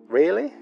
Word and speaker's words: really: que pronunciamos really really hay dos vocales en la primera sílaba really really really aquí